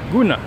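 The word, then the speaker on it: Gruene: at Green dancehall bruna how do you said I just say goon instead of green you're not as Texan we call it green and so the German pronunciation is go ahead tape you know guna there you go she's German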